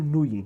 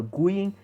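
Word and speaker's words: Nguyen: envolvendo a o Dustin, eu falo Nuyen, né? Tem gente que fala Guyen, mas eu acho que é Nuyen, porque o G é mudo.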